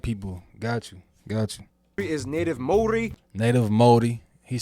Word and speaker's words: Māori: Māori, not Maori, Maori.